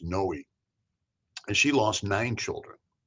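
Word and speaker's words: Noe: It was N Oe. I think it's pronounced Noi.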